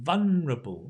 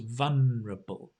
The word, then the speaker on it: vulnerable: word again not easy vulnerable vulnerable the l here right vol you don't need to pronounce the l sound it's just vulnerable a vulnerable species a